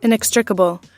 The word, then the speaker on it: inextricable: word okay EX where'd it go okay okay i n e x t r i c a b l e okay Google tell me how to say this word inextricable inextricable okay anybody else knew it inextricable anyone